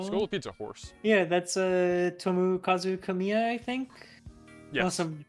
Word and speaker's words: Tomokazu Kamiya: Yeah, that's Tomokazu Kamiya, I think. Yes. Unless I'm mispronouncing his name.